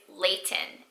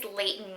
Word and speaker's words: Leighton: this name ever since I heard it, is Layton, and it's spelled Leighton. And the first thing I think of is Layton Meester.